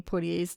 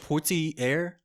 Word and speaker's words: Poitier: Every time you just mess up Sydney Portier's name. Yeah, I'm going to continue messing up. How do you say it? Portier.